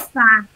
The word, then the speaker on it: sofá: Sofá. Sofá. E a última é tônica. Sol é átona e Fá é tônica.